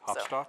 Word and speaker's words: Hopstock: Hopstock, yeah. Hopstock. Hopstock, like Woodstock.